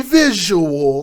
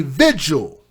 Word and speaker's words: vigil: to hold a vigil not a visual like people like to mispronounce it a vigil don't you think it's